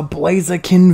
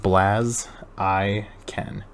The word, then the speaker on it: Blaziken: gallerian farfetch'd reverse holo oh oh it's a blaziken v dude bet i love blaze again